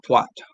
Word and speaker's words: twat: as it does now, but pronounced it was flat A, and somehow took it to mean a piece of headgear. A soft A would be twat.